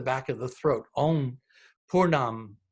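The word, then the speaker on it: pūrṇam: throat on poor Nam the long accent over the U is a poor so it doesn't extended you the dot unto the end in this case really doesn't change the pronunciation at all however in the next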